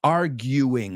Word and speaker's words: arguing: It's arguing. La U es como you.